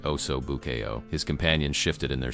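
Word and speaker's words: osso buco: Again, he mangled the pronunciation deliberately, saying, "Oo, B Y O Ko" instead of the correct oso buou.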